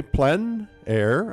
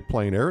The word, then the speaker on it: plein air: means open-air or outdoors the French say plenn air others say plein air it doesn't matter how you say it it's a huge movement